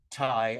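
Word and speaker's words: Thầy: No, we usually pronounce it Thai, and it's just the Vietnamese word meaning teacher. Okay, yeah.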